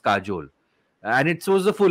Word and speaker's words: Kajal: so I was like it's spelled k-a-j-a-l but it's pronounced Kajol and it shows the